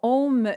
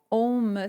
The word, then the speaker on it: Om: Effectivement, quand on le prononce, on commence par un A qui vient se transformer en haut pour aller vers le OU et se terminer avec le M.